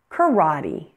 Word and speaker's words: karate: Now, words that have been borrowed from other languages pronounce the final E as E, and they have no written accent on them.